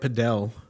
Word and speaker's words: padel: You hear about padel. Am I saying it right? I feel like I say it right and everyone says it wrong. Is it paddle or padel? I say padel as well.